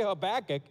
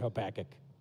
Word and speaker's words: Habakkuk: even pronounce it back when i say habakkuk some of you think they're saying i have a backache right it's like what